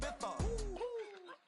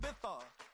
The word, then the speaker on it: Ibiza: I just went to Spain, that's a bitha. Ibiza. Yeah, it's pronounced Ibiza, actually.